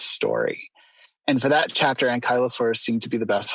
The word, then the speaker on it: Ankylosaurus: However, chapter 3 comes along, and I think it's Ankylosaurus.